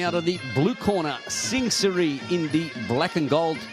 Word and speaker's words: Sing Siri: How do you pronounce his name? Sing Siri. Sing Siri.